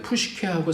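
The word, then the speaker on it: ψυχή: 심리학, 마음의 학, 사이콜로지인데 푸시케하고 사이콜로지하고 앞에 있는 것이 똑같아요. 똑같은 단어예요. 근데 P자가 묵음이 되면서 사이콜로지라고 읽고요. 영어로서는. 근데 이 그리스어는 P자를 읽어요. 그래서 푸시케 그렇게 읽습니다.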